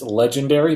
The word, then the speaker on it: Legenderry: Again, the name is Legendary, but spelled D-E-R-R-Y.